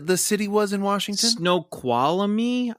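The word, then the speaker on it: Snoqualmie: city was in Washington snow quami I believe is how you say snow quamy wow s n o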